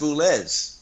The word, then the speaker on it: Boulez: I think it's pronounced Boulez. You Boulez, say that. okay. Normally in French you don't say EZ.